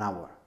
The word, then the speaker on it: hour: a horse en cambio puede ocurrir que la h no se pronuncie como en la palabra ahora ahora en este caso utilizaríamos an an hour en agua también puede